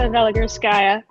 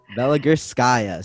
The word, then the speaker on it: Veligurskaya: We have Veligurskaya, and I definitely butchered your last name, so you're going to have to help me fix that. It's a Veligurskaya. Veligurskaya.